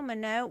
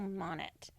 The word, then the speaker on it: Monnett: moon ceremony and Rachel minoo we're going to be in Glen Rose and so Rachel I say it wrong it's Rachel Monnett yeah I believe so